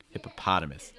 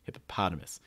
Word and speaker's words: hippopotamus: make sure um hippopot the ah sound needs to be the strongest syllable make sure that's really strong hippopotamus you can say everything else really quickly and not even pronounce it all that well but as long as people hear the paw they'll understand you hippopotamus hippopotamus okay it's